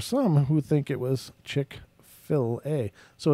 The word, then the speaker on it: Chick-fil-A: It's pronounced Chick-fil-A.